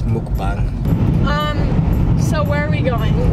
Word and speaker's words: mukbang: I feel like some people call it like a mukbang or whatever. So they don't know how to pronounce it right. It's mukbang.